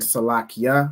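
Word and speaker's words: Salakya: Then the Ya means me. So when you're saying Salak Ya, you're saying forgive me. So that's how you know when to pronounce the end letter as Ya.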